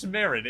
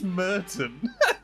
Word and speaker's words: Merrin: So his name's Josh Merrin, and you said his name was Josh Merton.